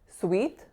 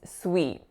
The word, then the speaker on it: sweet: It's not a pure E, so it's not sweet, it's sweet, sweet. So if you can hear the difference there, the North American one, it's moving, it has a bit more muscle tension.